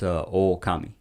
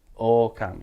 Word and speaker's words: Ookami: It's OOKAMI. OOKAMI. Yeah. Like a long O. That's what. Yeah, has that's why it's got two O's.